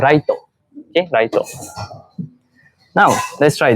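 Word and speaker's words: ライト: Lampu in Japanese is called, sorry, lampu in Japanese is called raito.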